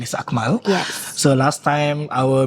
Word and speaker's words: Amal: name is a m a l so the pronunciation is akal yes so last time our manager is Shasha